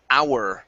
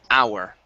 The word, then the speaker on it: hour: And we have the word hour right here. Instead of how, this is when you can drop the h. hour.